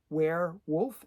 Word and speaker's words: Weirwulf: So the first one is Baron Weirwulf, and it's spelled Weir, and then Wulf. So it's like werewolf, but obviously it's werewolf.